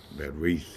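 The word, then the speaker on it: בְּרִית: Berith is how you say confederacy.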